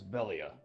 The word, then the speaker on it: Velia: So you see Velia? Is that how you pronounce it? Yes, it is Velia.